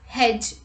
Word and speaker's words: hedge: myself rule number two d is also not pronounced in the combination dg let's look at the examples pledge dodge grudge hedge etc let's look at the examples take this